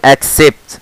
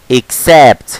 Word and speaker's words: accent: طب الكلمة دي بقى نطقها شائع والناس معظم الناس نطقها خطا، بتنطقها ايه؟ انا متاكد يلا انطقوا الكلمه دي، كنا نزل اكسبت، نطق خطا مليون في الميه، امال الصح ايه؟ اكسبت.